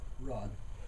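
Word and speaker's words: Raad: And it's Rod? Rod. Rod. Yeah, which is awesome because it's spelled R-A-A-D.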